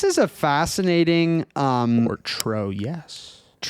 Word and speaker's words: Troyes: This is Tua or Troyus, however you want to pronounce it. Um, so this is a fascinating um or tro.